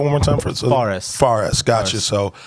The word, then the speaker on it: Fares: um not really no okay so uh uh pronounce that one more time for Forest farest gotcha so how do you how do you